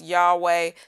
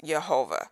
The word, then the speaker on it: Yehovah: Okay, again, some believe that it's pronounced Yahweh. Some believe that it's pronounced Jehovah. Some believe that it's pronounced Yehovah. I believe that the pronunciation, I won't say pronunciation, I'll say according to Bible Hub, the phonetic spelling of that tetragrammaton is pronounced Yehovah. So that's where you'll hear me say Yehovah.